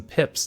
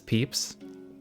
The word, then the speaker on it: pips: I convinced some pips to follow me into the valley. Perhaps we pronounce the I as a strong E and refer to them as peeps.